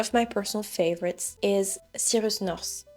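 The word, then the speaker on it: Cyrus North: Another one and one of my personal favorites is Sirus NS and I'm pronouncing it in French just because that's how he pronounces his name.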